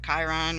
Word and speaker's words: Chiron: So Chiron, we know, is pronounced Chiron because that one is talked about a lot.